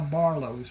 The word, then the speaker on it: Barlos: And that is how Barlos was born. The name was not a problem for the people in southern Louisiana because the French Ocadian influence. It is pronounced Barlo.